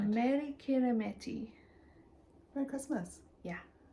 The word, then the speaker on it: Meri Kirihimete: Meri Kirihimete. Merry Christmas. Yeah. Meri Kirihimete is how you say it in Today O Meri.